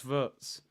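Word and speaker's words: Wirtz: vs there we go it's vers I don't want to get his name wrong works is with a V there you go the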